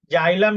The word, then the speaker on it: xylem: जाइलम meaning in Hindi, जाइलम ही बोलते हैं भाई, जाइलम में कोई दिक्कत नहीं है।